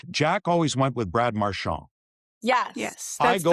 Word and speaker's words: Marchand: Only My- because if you listen to Brad in a commercial in Boston, and I don't know, he said, "Hi, I'm Brad Marchand of the Boston Bruins."